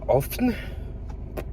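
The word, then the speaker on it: Höfn: Je viens d'arriver à Hoffen, qui est une des 6, ça se prononce comme ça.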